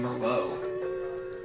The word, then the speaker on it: Merlot: Also put this towards naming the Dracula X Chronicles file name Merlot. And yes, I knew how to pronounce that already. Thank you for the pronunciation. You mean like the wine? Yes.